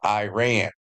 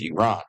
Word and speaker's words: Iran: Or as you Americans call it, Iran. But around the world it's known as Iran, okay? It's proper pronunciation.